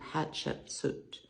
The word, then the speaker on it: Hatshepsut: was a woman named Hatchet set told if you pronounce it think of it like hot chicken soup Hatchet suit um that's as close